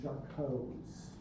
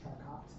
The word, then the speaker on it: Charcot: Primary, secondary, erosive, and Charcot's. Charcot, not Charcot. Charcot. Its E is silent.